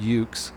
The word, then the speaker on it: EUC: into electric unicycles and they're called euc's pronounced ukes and i just bought